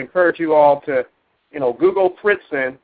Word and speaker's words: Fritzing: So if you ever get a chance, after the webcast, I would encourage you all to Google Fritzen. It's spelled Fritzing, and of course it's on the diagram there.